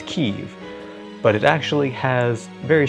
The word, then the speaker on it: Kyiv: And they've actually been pushing for quite some time, largely unnoticed by the West, for Kyiv to be the correct pronunciation instead of Kiev.